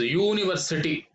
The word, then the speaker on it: university: not university it is university so the sound is you the sound is you